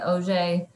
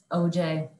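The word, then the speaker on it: Auger: about it you say OJ spectroscopy when I learned about this technique uh there's a big picture of orange juice to remember like say like OJ OJ spectroscopy um to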